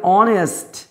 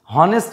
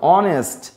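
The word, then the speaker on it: honest: তারপরে অনেস্ট, হনেস্ট নয় অনেস্ট, এটা কিন্তু হাওয়ার নয়, এটা হনার নয়।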